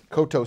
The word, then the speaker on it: Coteau: to facebook-dot-com forward-slash Michael Cote oh and that is spelt koto Co t e a you and you can post